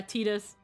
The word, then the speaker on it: Titus: was the time when they pronounced titus's name and everyone hated it oh yeah tetus so they won't question the changes yeah that's how that's how we we we had learned quote unquote that one of the intended pronunciations for it was uh was tetus and then everybody and by everybody I say uh freaking gesture proceeded to call him titties it's titties it's titties